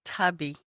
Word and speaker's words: Tabi: It's Tabi.